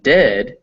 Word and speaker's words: dead: And dead, it said like bed, not bead. For goodness sake, don't call it deed.